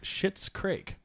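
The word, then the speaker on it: Schitt's Creek: i've recently discovered called shit's creek yes that's how it's meant to sound and spell it for the people s-c-h-i-t-t s get it shit's crazy so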